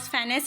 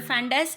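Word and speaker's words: fundus: ये spelling mistake है, actually it इज़ नॉट फैनस, इट इज़ अ फंडस, and corpus is the body and इट इज़ a pyloric antrum.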